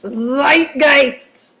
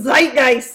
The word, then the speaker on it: Zeitgeist: as I say it you gotta say it with a doofy German accent because it comes from German it's Zeitgeist whoo Zeitgeist say it Zeitgeist and it just means